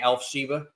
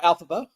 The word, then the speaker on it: Elphaba: With her mispronunciation, she would say Elphsheba. No, I call her Elphaba.